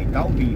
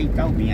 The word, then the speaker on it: Itaubim: Não é Itatim, não, Itaubim, viu, gente? Lá é Itaubim, aqui é Itatim. É quase idêntico, né? A gente às vezes até pronuncia errado, se não presta atenção, né?